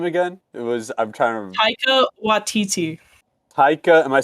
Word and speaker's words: Taika Waititi: Taika Waititi. Taika, am I saying it right? Taika Waititi?